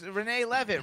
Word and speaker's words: Renee Leavitt: you i'm happy to be here so it's renee levitt right that's how we pronounce it yeah okay i just wanted to